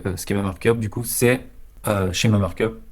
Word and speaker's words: schema markup: Du coup, c'est schéma markup. Comment le prononcer? En anglais, ce serait plus schema markup.